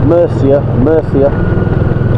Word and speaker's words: Murcia: You know, you go to, I know a place called Murcia. There's a Spanish pronounces C as TH, and I know there's definitely one there.